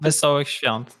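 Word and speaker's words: Wesołych Świąt: Is it Wesołe Świąt or something like that? Wesołe Świąt.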